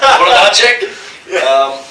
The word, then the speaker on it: Włodarczyk: Włodarczyk.